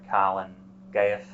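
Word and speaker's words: Calan Gaeaf: Church there is a Welsh name for it Colin gayath that's c-a-l-a-n g-a-e-a-f the use of the word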